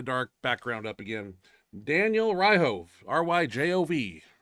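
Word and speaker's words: Ryjov: Daniel Ryhove, R-Y-J-O-V. I think the J is silent, so I'm gonna say it's Ryhove. That's what it looks Yeah, like.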